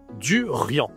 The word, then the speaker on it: durian: On prononce avec le nez, le en. On dit le durant. Le duriant, c'est un fruit spécial parce que c'est surtout en Thaïlande qu'on mange ce fruit.